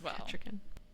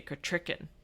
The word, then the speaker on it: Kettricken: into Kettricken Oh, Kettricken. That's one of the names that gets butchered in later things is they say Kettricken and it burns me up, honey. It's Kettricken.